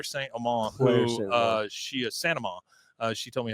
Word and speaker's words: Saint Amand: Bloody Happy Hour, and Claire Saint Amand, who she is Saint Amand.